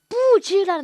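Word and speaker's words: 布置: 이 무기 배치하는 거 말고 그냥 사물 물건 배치하다 할 때 쓰는 뿌즈라는 단어가 있어. 뿌즈. 이렇게 쓰거든요. 뿌즈. 얘가 이제 발음이 뿌즈예요.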